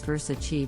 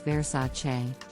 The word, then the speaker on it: Versace: mispronounce this Italian brand as versatile but the correct pronunciation is Versace the brand is known